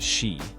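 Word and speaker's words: sídhe: Similarly, in Celtic mythology, nature spirits known as Shidi, pronounced she, or Ioc, were thought to reside in fairy mounds, caves, or across the sea.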